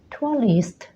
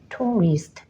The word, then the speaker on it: tourist: อย่า ลืม นะ คะ มี เสียง ยาว แล้ว ก็ เสียง หนัก ลง ท้าย ก็ คือ ตัว S ให้ ออก เสียง ทั้ง คู่ เลย นะ คะ เป็น แบบ นี้ นะ